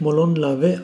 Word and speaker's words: Molon Labe: Wird eigentlich Molon Lavais ausgesprochen.